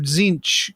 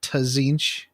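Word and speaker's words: Tzeentch: can see Good Men do you ever have anybody in your play group that called that pronounces it tazinch no I think we did for a little while it drove me nuts anyways zinch can see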